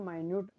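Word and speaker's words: minute: Compact and माइन्यूट, ये मिनट नहीं है, इसको माइन्यूट प्रोनाउंस करते हैं हम जब डिमिन्यूटिव में इसके सिनोनिम्स को पढ़ते हैं तब।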